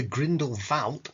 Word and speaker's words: Grindelwald: Anyway, what we're looking at really is the Grindelwald, as it's pronounced in German, and I'm sticking with it so as not to get busted.